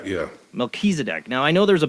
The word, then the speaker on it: Melchizedek: mckinsey deck is how you say the kills melchizedek yeah melchizedek now i know there's a biblical reference to